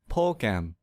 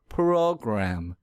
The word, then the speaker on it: program: to our previous example suppose i pronounce this word as progem that's incorrect because the r sound is missing if i want to fix this mistake quickly i will exaggerate the r sound program program program here's another example let's